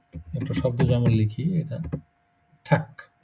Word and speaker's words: Tag: আছে শব্দের শেষে, এরকম শব্দের শেষে থাকলে তখন ওইটা একদম কয়ের মতন উচ্চারণ হয়। যেমন এখানে হবে এটা ঠাক, গুটেন ঠাক না, কয়ের মতন ঠাক।